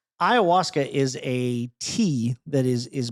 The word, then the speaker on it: ayahuasca: Have you ever heard of ayahuasca? Spell it.